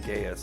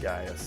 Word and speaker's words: Gaius: there he is gaius i i keep saying gaius but it's pronounced gaius that's how he pronounced that earlier when he introduced himself so gaius creating art while i'm surrounded by art being